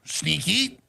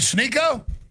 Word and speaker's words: Sneako: You call me Sneaky. Let's say my name correct. Sniko. Snicklets. Snicklets. Snicklets. That's good. Snikyotic is Is it Sneo?